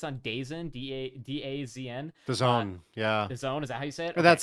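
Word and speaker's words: DAZN: in i think it's on days in d-a-d-a-z-n the zone yeah the zone is that how you say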